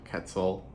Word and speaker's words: Quetzal: Also for anybody who doesn't know how to, this is Resplendent Quetzal. So whenever you see Q-U-E-T like that, that is pronounced like a cat, like a K sound, not quet, not like a Q-U.